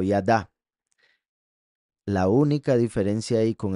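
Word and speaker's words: ידה: significados de la palabra yada o del verbo yada que son la yud la dalet y la he vean como ahí la he final se pronuncia a porque es el verbo yada la única diferencia ahí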